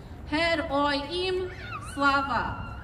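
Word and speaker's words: Героям слава: The response is fairly simple. It's only a couple syllables. It's Hed Oy Im Slava.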